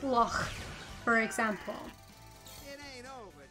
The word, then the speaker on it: loch: But yeah, like if I was to pronounce loch, like lock, like a lot of English people just say lock, sounds really wrong and weird.